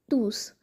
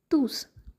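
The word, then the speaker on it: tous: one with a final final silent s and one with a pronounced final s.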